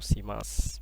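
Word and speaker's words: します: Ini su-nya ini kurang dibaca, jadi watashi wa furansugo benkyou shimasu. Biasanya orang Jepang gitu nyebutnya.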